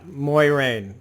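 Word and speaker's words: Moiraine: i kept having to sound it out yeah moyrane uh played by rosamund pike that's how you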